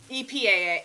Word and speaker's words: EPA: it by the way epaa I just say the letters on this one usually they don't shorten this one so it's EPA and